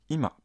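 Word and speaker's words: 今: quand on utilé seul il se prononce IMA c'est dire maintenant IMA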